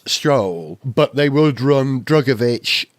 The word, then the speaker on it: Drugovich: say his name drugovich I think it's pronounced drugovich I think because I heard him say it once on an interview and he said drugovich not drugovich okay but he's Brazilian not